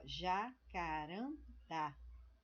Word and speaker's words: Jacarandá: para essas situações Jacarandá então onde eu tenho a sílaba mais forte Jacarandá né Jacarandá o que que eu da porque o da ele é acentuado né é a última sílaba quando nós acentuamos a